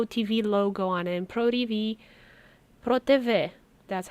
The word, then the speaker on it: PRO TV: And Pro TV, Pro TV, that's how you say it.